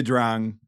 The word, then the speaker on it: Drang: the yet well yeah Drang is like how it's pronounced like whatever but Americans say I drank so I'll just say I drank from here on out but um so a